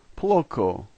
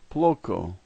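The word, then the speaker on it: плохо: The third letter is O, and it's typically pronounced A, but in this case it's pronounced O.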